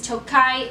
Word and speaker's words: Tokaj: T O K A J is Tokai, the region in Hungary. Adding the I on the end, it means from Tokai.